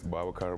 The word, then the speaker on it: Babacar: car yeah they call like my name is Baba car but I think it's easily for them calling me Baba cuz sometimes some people have a problem pronouncing Baba car I love it I think it's a great